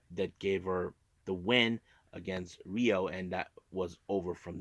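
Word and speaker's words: Rhio: singles match we have Rio not rho Rio this one's pronounced with the RH IO let me spill it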